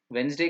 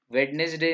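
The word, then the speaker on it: Wednesday: ही बताया था आपको वेनसडे का भी बताया था 11थ आवर का भी बताया था वेडनेसडे नहीं है ना वेडनेसडे नहीं इसका प्रोनंसिएशन है वेनसडे डी साइलेंट हैय वेनसडे उसी तरह से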